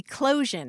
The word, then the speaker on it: eclosion: Eclosion. It looks like explosion, but it's eclosion, which means the hatching or emerging from a cocoon.